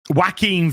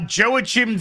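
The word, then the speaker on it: Joaquin: um they had um wacking Phoenix's uh or is I used to to pronounce the that word 20 years ago um Jo Joachim they had joah Chim Phoenix's um Batman costume no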